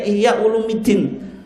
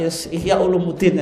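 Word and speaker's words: Ihya Ulumuddin: disebutkan dalam kitab ihyaquluddin itu bacanya Iya Ulumuddin tapi karena dibaca kasrah itu berat Pak ya Ulumuddin aja tapi secara Nahwu itu karena dia apa kesalahan umum karena sudah biasa kan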